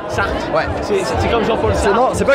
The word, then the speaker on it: Sarthe: Sarthe. Sarthe. Ouais. C'est comme Jean-Paul Sartre. Non, c'est pas comme Jean-Paul Sartre. Jean-Paul Sartre. T'enlèves le R de la fin, en fait.